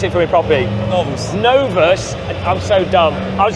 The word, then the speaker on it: Novus: fantastic the no I'm keep saying it wrong pronounce it for me properly no novas I'm so dumb I was getting told off